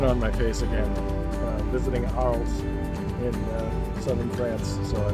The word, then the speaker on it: Arles: It's basically Ar. Like, a lot of the letters are redundant, the way they pronounce it.